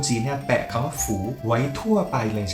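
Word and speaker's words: 福: แล้ว ใช่ มั้ย ครับ มัน อ่าน ว่า ฝู ฝู คำ ว่า ฝู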